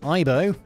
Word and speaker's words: Aibo: The Aibo, pronounced Aibo, nailed it, quickly caught on among robotics nerds and became an incredibly expensive but quite cool big kid's toy.